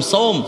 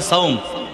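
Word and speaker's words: صوم: সুমু নাহার, সোম, সোম আমরা বাংলা বলি সাওম, বলি না? সাওম মানে কি? রোজা। আসলে সঠিক উচ্চারণ হচ্ছে সোম।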